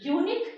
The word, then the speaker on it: unique: Kalam made a unique contribution to science. Unique U is a vowel letter. But why it is followed by A? Because in deep sense, to pronounce unique, it creates a U consonantal sound.